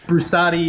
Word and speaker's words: Brusatte: right on Steve thank you so much Steve Bruce at a write I'm pronouncing that correctly yes Bruce Adi it doesn't matter I you know everybody pronounces